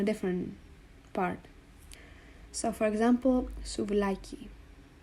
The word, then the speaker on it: souvlaki: So for example, souvlaki. You know that it's pronounced souvlaki and not souvlaki or souvlaki because the tonus is in the middle. Souvlaki, it's on this middle A.